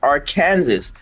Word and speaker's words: Arkansas: It's supposed to be pronounced Arkansas.